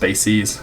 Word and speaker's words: bases: decize bases it looks like bases but it's pronounced bases and uh just because uh this chapter and